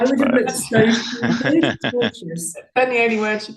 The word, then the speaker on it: tortious: Just to jump in, sorry to be the pedant here, although it is torturous doing this line of work, it's tortious. Tortious.